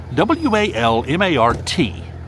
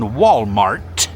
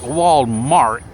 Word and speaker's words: Walmart: W-A-L-M-A-R-T. Walmart. Walmart. Now, the reason I emphasize the T at the end, Walmart, is because there are certain people who shall go unnamed who pronounce the word Walmart.